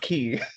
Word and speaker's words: quay: excellent nice use nice use of the word quay no GNA say it's key but it's pronounced key heard the word pronounced that know it is